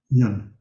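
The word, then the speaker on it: yün: It's spelled Y-U with an umlaut, 2 dots over the U, in, yun.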